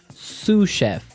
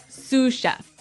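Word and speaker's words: sous chef: Sue chef. Sue chef. Sue chef. S o u s. So, the s is silent because it's like a French word.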